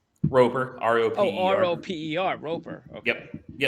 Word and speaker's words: Roper: How do you pronounce his name? Roper.